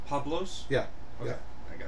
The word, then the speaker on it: Pablos: Is the last name pronounced Pablos?